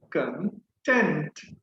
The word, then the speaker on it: content: repeat content now next if i put stress on the second syllable then it would be content content content say this